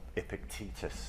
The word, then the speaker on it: Epictetus: famous stoic thinkers called Epictetus or epic Titus if you want to call him by another name or another pronunciation and uh I was